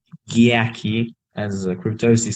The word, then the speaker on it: Giaki: we you know me if you can also pronounce my name yaki as crew Tosi says